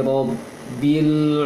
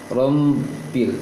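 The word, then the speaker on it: رَبِّ: Abba, dibacanya tadi di surah Al-Fatihah, alhamdulillahi rabbil alamin. Rabbil, jangan baca rombil seperti mim.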